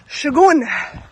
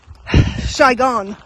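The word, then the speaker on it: Sahagún: half the distance and that place is shagon I actually don't think that's how you say it is I think it could be shyon but it's s a h a g u n yeah when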